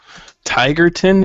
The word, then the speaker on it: Tigerton: Little Falls where okay so tigerton is how it's yep just and it's spelled just like it sounds it's kind of by